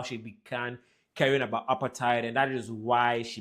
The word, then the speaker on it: apartheid: South Africans pronounce it as apartheid because the word apartheid is an African word for apartness.